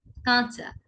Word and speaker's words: কাঁচা: যেমন কাঁচা, কাঁচা। কাঁচা শব্দটিতে চন্দ্রবিন্দু নেই, তাই আমরা স্বাভাবিকভাবে উচ্চারণ করছি। কাঁচা শব্দটিতে চন্দ্রবিন্দু আছে, তাই আমরা খানিকটা নাকি স্বরে উচ্চারণ করছি।